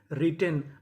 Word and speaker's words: written: WRITTEN रिटेन। अब देखिए यहाँ पे टी हमारा दो बार है, पढ़ेंगे कितनी बार? एक बार।